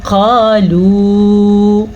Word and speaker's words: قالوا: ثمرات رزقا قالوا، یہاں پہ اخفا کا قاعدہ ہوا ہے، قاف موٹی ہے تو موٹی ہی پڑھنی ہے، پر کر کے پڑھنی ہے، ٹھیک ہے.